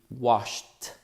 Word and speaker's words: washed: The last sound on the verb wash, SH, is also a voiceless sound. Therefore, the correct pronunciation for this verb in the past will be washed.